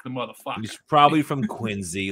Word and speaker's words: Quincy: He's probably from Quincy, like a little motherfucker.